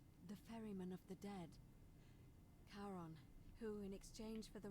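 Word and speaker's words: Charon: you described it only your pronunciation is a little off the name you heard wasn't Karen it was c h a r o n as Inon the Fairman of the Dead Kon who in exchange for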